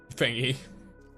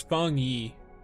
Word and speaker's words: Feng Yi: It's Feng Yi. Okay, so it's Feng Yi is the correct pronunciation.